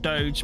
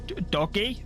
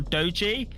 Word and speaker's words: Doge: They are, but I believe strangely they were adamant that their name is not Doge but is Doggy or Doji, and there was a whole ordeal about how to refer to them.